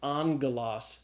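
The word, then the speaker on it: ἄγγελος: When you hit that scenario, the first gamma is pronounced as a gamma nasal as an n sound. So like the Greek word for angel is angalos alpha gamma gamma but it's pronounced an okay sound.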